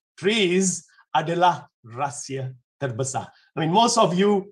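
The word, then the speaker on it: TRIZ: with chris okay tris the correct way of pronouncing is trees right i mean the russians do that okay well uh trees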